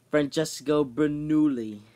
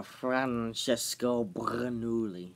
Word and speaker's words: Francesco Bernoulli: We have changing colors, Francesco Bernoulli. Or Francesco Bernoulli. Yeah, that's not how you say it. It's 3 syllables, not 10. Yeah, oopsies.